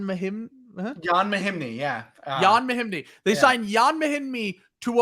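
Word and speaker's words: Mahinmi: How do you pronounce it? Jan Mahim. Jan Mahimny, yeah. Jan Mahimny.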